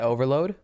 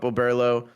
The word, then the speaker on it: Oberlo: Was So it Overload? no, Oberlo.